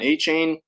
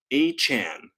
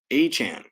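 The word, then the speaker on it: Achane: him running back Devon a chain and apparently we've been saying it wrong it's Devon a Chan a Chan Roshan Johnson Kendra Miller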